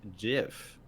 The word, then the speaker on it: GIF: links and Walter said the inventor of the format says it's pronounced jiff interesting Wow so there